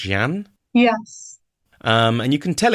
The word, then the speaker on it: Jeanne: That's probably an anglicised version, and based on the signature, it looks like her name was probably pronounced Jeanne.